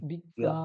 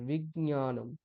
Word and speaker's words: বিজ্ঞানম: বিজ্ঞা ঠিক আছে বিজ্ঞ বিজ্ঞা এটা বলবেন না বিজ্ঞা যেহেতু এখানে জকার তারপর নকারটা আছে জকারটা স্পষ্ট না শোনা গেলেও ইয়কারটা স্পষ্ট শোনা যাবে বিজ্ঞা নয় দেখেছেন তো হ্যাঁ গ আর ইয় এরকম উচ্চারণ করবেন তাহলে সুবিধা হবে বিজ্ঞানম বিশুদ্ধ বিজ্ঞানম